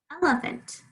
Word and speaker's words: elephant: it with an a elephant l l in my first syllable i can hear that f the cat is at the edge of the chair here that short e really click clearly uh there's the schwa do you hear it which is more like an a really um we can oops that third syllable is also ella found that i don't say fant um it's sometimes hard